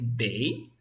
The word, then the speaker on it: they: Se dice they, con una D, they. ¿Cómo sería? They. Muy bien, que vibre. ¿Quedó claro?